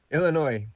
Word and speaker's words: Illinois: are really good Illinois please don't pronounce the S you're from Illinois uh